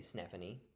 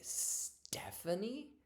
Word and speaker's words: Stephanie: always think of one of my students was mispronouncing the word Stephanie. She would say Snephanie, and but we knew she could actually make the T sound. So one day I just said, "Oh, can you say Stephanie?"